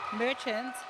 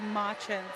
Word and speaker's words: Marchant: And also at wing attack was Bronte Merchant, but brought to our attention it's Marchant.